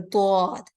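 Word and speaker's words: ض: You try to touch the molars from the back of your tongue and then pronounce the letter dod. When you do so, the dod becomes more heavier.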